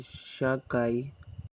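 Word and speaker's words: sake: made from grapes at all in japan sheikh pronounced a shahkai is a beverage made from rice referred to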